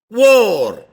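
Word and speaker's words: whore: this is different spell it means w h o r e that is called spell it pronounce it War that is pronounce so now I will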